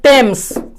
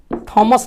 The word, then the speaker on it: Thomas: जैसे THAMES, THAMES, इसका उच्चारण हम लोग बोलते हैं टेम्स। टेम्स नदी है, उस से THOMAS, इसको टॉमस बोलते हैं, थॉमस नहीं बोलते हैं, टॉमस किसी व्यक्ति का नाम है।